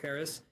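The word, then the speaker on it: PVRIS: hold on let me it looks like it's spelled but it's paris so it's pv ris but i'm pretty sure you pronounce it paris and they've got a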